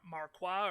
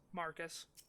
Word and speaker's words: Marcus: Final Fantasy, and so I thought Marcus was pronounced like Marquois or Marquis or something like that. But no, I looked up the pronunciation, and it's just Marcus.